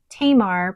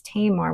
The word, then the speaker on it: Tamar: And I have it inked with Van Diemen's Tamar Pinot Noir. So I had somebody correct me on the pronunciation of that. So it's Tamar, which I believe is a region in Australia.